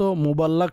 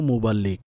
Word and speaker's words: মুবাল্লিগ: আমিন ওয়াইয়াকুম আমিন প্রথমত মুবাল্লাক শব্দটিকে মুবাল্লিক করে দিন মাশাআল্লাহ আপনি নিজেও মুবাল্লিক বয়ান করে থাকেন সুতরাং লামের উপর জবর নয় বরং লামের নিচে জের মুবাল্লিক সঠিক উচ্চারণ হচ্ছে এটা দ্বিতীয়ত তিনি কি বলেছেন